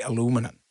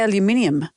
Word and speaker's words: aluminium: The Canadians love when we say aluminium cuz they say aluminum. Well, no, we don't. We say aluminium.